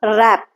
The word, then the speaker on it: wrap: Okay, you will say knife or wrap. Okay, so W is silent here.